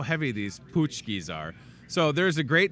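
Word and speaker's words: pączki: Something else you could have on Fat Tuesday, another tradition would be the punchkis. I think that's how you say it. Punchkis, pachkis. You say punchki, I say pachki.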